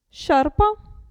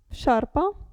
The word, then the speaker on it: sciarpa: è un verbo scendere il gruppo sci si pronuncia S sciarpa sciarpa e qui cuscino cuscino